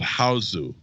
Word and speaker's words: Hausu: In order to find the Japanese version, because there are American movies called House, this is called Hausu. Yes. And it's spelled Hausu.